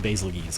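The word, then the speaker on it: Bazelgeuse: seething basil juice geese I think it's pronounced McGee's saving basil keys because it's supposed to rhyme with Louise I learned that today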